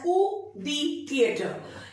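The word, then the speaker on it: coup de théâtre: That is known as कू दी थिएटर। इसका जो correct pronunciation होता है that's कू दी थिएटर, कू दी थिएटर।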